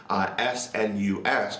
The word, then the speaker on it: snus: Now snus, S-N-U-S, pronounced snus, not snus, is basically American or